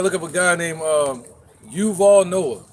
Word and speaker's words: Yuval: You gotta look up a guy named Yuval Noah. It's gonna piss you off, man. How you spell it? Yuval, yep, Y-U, not just like Duval. But Yuval. Noah with a Y.